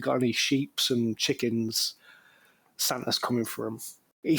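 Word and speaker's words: Santer: The Santa is spelled S A N T E R.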